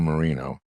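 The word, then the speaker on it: Moreno: in Ohio won Bernie Marino or marino marino like Dan Marino Dan okay which always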